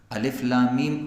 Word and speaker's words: الم: معنی ہے الگ الگ۔ یہ حروف اکٹھے لکھے جاتے ہیں، مگر جب اس کا تلفظ ہوتا ہے، پرونسیشن ہوتی ہے، تو وہ الگ الگ ہوتی ہے۔ الف لام میم اکٹھا لکھا گیا ہے، لیکن جب آپ اس کو پڑھیں گے تو الف کو جدا، لام کو الگ، میم